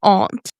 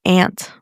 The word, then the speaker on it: aunt: I just feel so English when I say that. My aunt. Aunt. Aunt. It sounds fake now. Yeah, I feel I feel fake when I say it like that. I'm like, it's ant.